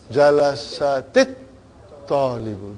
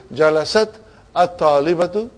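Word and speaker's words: جَلَسَتِ الطَّالِبَةُ: Instead of saying jalasat at-talibatu, we say jalasatit talibatu.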